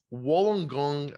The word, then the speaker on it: Wollongong: you listed as as I'm going to definitely mispronounce this but Wollongong Australia so yeah that's right that sounds like